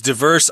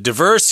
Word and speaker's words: diverse: And they can browse through all these diverse items. Diverse here, I should say, that's the American pronunciation. If you're in Canada or in the UK, I guess you guys say diverse. Diverse, right? Yes.